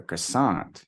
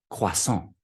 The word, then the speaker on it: croissant: I'd like a croissant, you know, but you go to France, croissant, croissant. Okay.